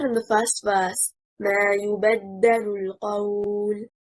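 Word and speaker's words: يُبَدَّلُ: The word in the first verse, ما يبدل القول. The correct performance is stressing on حركة الباء.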